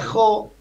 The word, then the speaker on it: Jo: Bueno, en realidad oficialmente Jo, se pronuncia Jo, que es la mitad de José, que es mi nombre real, tan sencillo como ese.